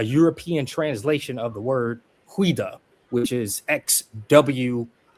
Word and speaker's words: Xweda: point out that that's a transliteration of the name Huida. So there was a kingdom there named Huida, and it's spelled XWEDA, and Judah, JUDA, is just the way one country translated that word.